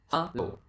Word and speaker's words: halo: It's halo. halo.